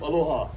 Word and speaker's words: aloha: Sometimes you see people or luau's yell the word aloha or drag that word on, but as our beloved Queen Lili'o Kalani says, that changes the meaning. The proper way to say aloha is a warm and brief aloha, but don't go out there correcting locals, alright?